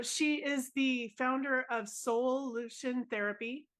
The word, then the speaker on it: Soulution: So she is the founder of Soulution Therapy. And soul, I said it that way on purpose, so I didn't say it wrong. It's SOUL in all caps with a solution.